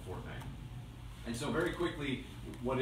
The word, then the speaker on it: Fortnite: And for a lot of people who don't actually know what Fortnite is, they mispronounce it and call it Fortnite. It's not Fortnite, it's Fortnite.